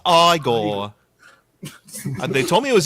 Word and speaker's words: Igor: like I'll I'll just quote Igore or Eigore being like you're putting me on. No, no, it's pronounced Frankenstein.